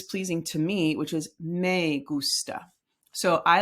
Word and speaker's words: gusta: Me gusta. Me gusta. The gus, when it's capitalized, it's where you put the emphasis on that word.